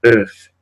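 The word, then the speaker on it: œuf: Entonces tenemos, por ejemplo, la palabra earth, ¿no? Earth, que significa huevo. Earth, ¿bien? En este caso la F final sí se pronuncia, ¿no?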